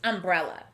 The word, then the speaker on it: umbrella: this word is umbrella notice that this word starts and ends with the uh sound but the first uh sound is a short u as we would expect in a closed syllable like this one the second uh sound is spelled with the letter a so we know this